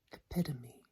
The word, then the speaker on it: epitome: Third word, epitome.